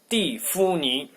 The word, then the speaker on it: 蒂芙尼: 蒂芙尼.